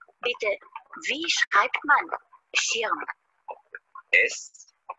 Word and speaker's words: Schirm: Der Schirm. Aha, der Schirm. Das ist ein Schirm. Richtig. Bitte, wie schreibt man Schirm? S-C-H-I-R-M. S C H I R M. Schirm.